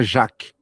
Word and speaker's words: Jacques: Porque em francês se fala Jacques, sem o S. Então dá para falar tanto Jacques Klein quanto Jacques Klein. Se consagrou, fala Jacques Klein em português.